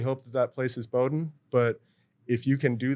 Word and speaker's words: Bowdoin: educate someone on how to pronounce the name it's Bowden college and you know it's